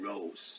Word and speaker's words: rose: I 嘛，所以念 dice。CE 那个念转成 S，所以你应该可以看得到这个自然发音真的可以帮助你念很多字，虽然那个字你可能没念过，以前没看过好 O，比如说像 rose O 本来的声音念 R like a Todd or rod，但是后面字尾有一个无声的silent E，马上就把这个声音改成 rose，这也帮助你拼音。所以你当一个字不认识，但是人家念出来的时候，你知道什么时候要加一，什么时候不要加一。好，you，比如说像这个字，us，like 这个我们的受词 we 的那个 object，然后呢变念作 us，right？